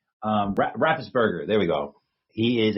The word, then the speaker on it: Raffensperger: Raffensperger, there we go.